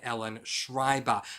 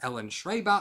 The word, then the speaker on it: Ellen Schreiber: reading in october which is vampire kisses by ellen schreiber now in my october tbr i said her name is ellen schraeber i pronounced it incorrectly so that's why i'm correcting